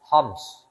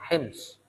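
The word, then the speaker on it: حمص: Syria sekarang namanya homs orang bacanya homs Ya kalau bahasa Arabnya hims ya orang mengatakan sekarang homs homs itu kalau di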